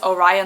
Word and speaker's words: Orion: I used to say it like Orion Books, but I think it's Orion, like Orion's belt.